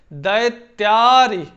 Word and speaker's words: दैत्यारी: यहां हमारा उच्चारण जो है, उच्चारण काल बढ़ जाता है, 2 निमिष का समय लेता है। कैसे, दैत्यारी, ऐसे हम उच्चारण करेंगे।